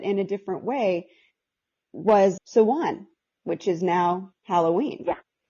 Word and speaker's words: Samhain: And so when you're turning, and it's pronounced so in English, and it's pronounced Samhain in Irish, into the season of Samhain, which